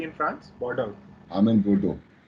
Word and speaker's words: Bordeaux: I'm in Bordeaux. Bordeaux. Bordeaux. They call it Bordeaux. Bordeaux. Bordeaux. Bordeaux. X is silent.